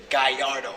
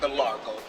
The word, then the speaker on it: Gallardo: When they want a big dog car like this, they go get the Gallardo. That's how you really pronounce it, not Galargo.